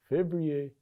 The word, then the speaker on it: février: Février is February.